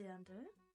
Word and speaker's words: Dirndl: It's called a Dirndl. It's spelled like this, if you can read that.